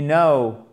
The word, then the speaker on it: know: You know, le que. Le K, pardon, ne se prononce pas. On n'a pas le son que.